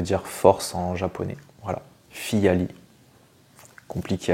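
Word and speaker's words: Phyllali: comment il se prononce est-ce qu'il se prononce fiali ou Filali et bien il se prononce fiali et oui moi je le prononçais mal depuis tout ce temps je disais Filali non c'est fiali euh FIA ça vient de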